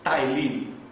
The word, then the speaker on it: ptyalin: that is called as ptyalin, but spelling starts with P. So keep in mind, don't pronounce ptyalin, but while remembering you can remember this way, ptyalin.